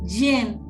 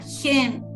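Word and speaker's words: חן: el oportuno socorro gracia en el hebreo significa yen se escribe con jota yen y esto significa regalo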